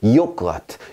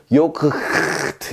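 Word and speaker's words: Joghurt: 요크아트, 요크아트. 자, 여기서도 모음 뒤에 묵음해서 트 소리가 납니다. 요크아트 이렇게요. 만약에 소리가 났다면 요크트 이렇게 했겠지. 그런데 그렇게 안 한다고요. 왜?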